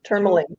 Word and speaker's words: tourmaline: Yes, tourmaline.